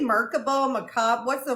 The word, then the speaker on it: Merkaba: I say Merkaba, Merkab. What's the right way to say it? I say Merkaba. It's Merkaba. Merkaba. Merkaba.